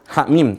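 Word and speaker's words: حم: Ha mim terakhir. Cara bacanya ha mim, hanya dibaca 2 harokat saja.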